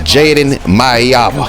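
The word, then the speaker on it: Jaden Maiava: And whole time I'm saying his name wrong. It's Jaden Maeva.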